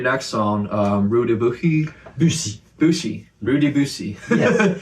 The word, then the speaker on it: Rue de Buci: Buci. Buci. Rue De Buci. Yes, thank you. hard to try to pronounce it right.